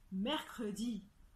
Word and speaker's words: mercredi: ya plusieurs exceptions alors si on prend l'exemple du mot mercredi le eux se trouvent entre 3 quand ça et pourtant en prenant ce bien le e on dit mercredi d'accord j'ai fait mention